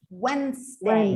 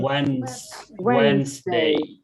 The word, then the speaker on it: Wednesday: Wednesday. Wednesday. Wednesday. And I want to pronounce this word over here.